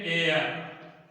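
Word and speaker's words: heir: ये देखिए ऑनर, ये ऑनर, ऑनेस्ट, ये देखिए ऑनेस्ट, और इसको देखिए एयर, उत्तराधिकारी।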